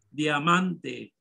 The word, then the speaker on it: diamante: Diamante. Barrio, ¿cuál es la tónica? Y bien, sí, la. ¿Cuál es? La sílaba tónica la man. Bien, diamante tiene tres sílabas y la sílaba tónica la segunda sílaba, man.